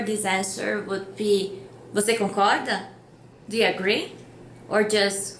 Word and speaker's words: concorda: The question for this answer would be, você concorda? Do you agree? Or just concorda? Agree? And the answer is eu concordo or eu não concordo. Also, the word concorda has the same pronunciation as with rope.